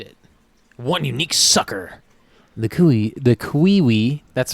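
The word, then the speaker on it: cui-ui: The kiwi. That's how it says it's pronounced.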